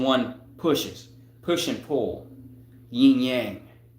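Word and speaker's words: yin yang: Ying yang or ying yong the real the real pronunciation.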